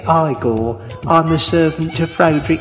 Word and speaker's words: Igor: You pronounce it Igor.